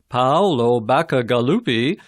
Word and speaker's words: Paolo Bacigalupi: Number 2, Paolo Bacigalupi, and that's pronounced Paolo Bacigalupi, is putting the finishing touches on a powerful